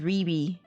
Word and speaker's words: Riri: Is it pronounced Rai Rai? No, it's pronounced Riri.